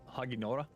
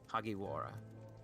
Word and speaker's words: Hagiwara: They like bang their mugs on the Say Haginora? Hagiwara. Wara. How do you spell that?